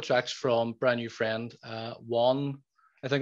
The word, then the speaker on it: Wohn: I've got a couple of tracks from brand new friend, Wohn. I think it's pronounced W-O-H-N. I'm assuming it's Wohn. It sounds like John. Sorry, it sounds like John with a W.